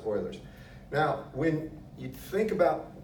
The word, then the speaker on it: Euler: just standard Euler's identity it's spelled eul all right not a lie boilers identity pronounced boilers now when you think